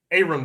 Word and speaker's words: Aaron: Aaron Brewer. It's spelled Aaron, pronounced Aaron.